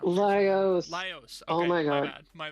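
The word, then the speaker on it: Laios: I don't know how to pronounce it. Losios.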